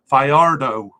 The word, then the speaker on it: Fajardo: I've been calling it uh Jose for her Fajardo fayardo I do know how to say it I'm